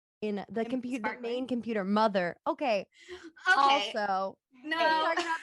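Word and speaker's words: MUTHUR: something that just like if you pronounce it phonetically sounds like mother um I like that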